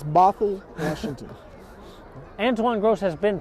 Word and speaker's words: Bothell: I think it's Bothell, Washington.